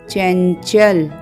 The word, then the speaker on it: चंचल: बाद का व्यंजन देखेंगे अनुस्वार के बाद व्यंजन आया है च तो च च वर्ग का व्यंजन है और च वर्ग का पंचमाक्षर है हलंत य तो इसका उच्चारण होगा चंचल और अच्छे से समझने